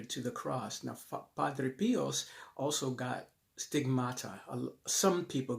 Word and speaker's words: Pio: P-I-O. I mispronounced or misspelled his name in another video, but it's P-I-O.